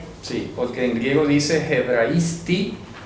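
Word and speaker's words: ἑβραϊστί: Hebraisti es, repito, se pronuncia así, hebraisti, y es arameo.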